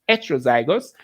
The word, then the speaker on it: heterozygous: Heterozygous, it's spelled heterozygous, but it is heterozygous.